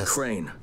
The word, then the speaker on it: Crane: No, my name's Crane. Crane rhymes with train and plane and sane and rain and plane and the other kind of plane.